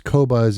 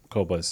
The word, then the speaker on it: Qobuz: do you spell that kobas kobas is spelled q b u z and the other reason